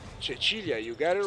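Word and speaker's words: Cecilia: They've got Andre, Jasmine Keys, as well as the captain, Chachilia. Am I saying it right? Chichilia.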